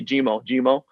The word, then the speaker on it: Jimmer: And Jimo means lonely, and it sounds like Jimmer, Jimo, and that's how people kind of pronounce my name over here. They can't really pronounce the ER, so they say Jimo, and it means lonely,